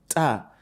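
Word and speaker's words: ت: The tip of your tongue touches the root of your upper teeth. Okay, so you have ta.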